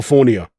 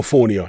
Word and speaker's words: Fournier: land serious punches on his billionaire friend, Joe Fournier? That is how you pronounce his name, isn't it?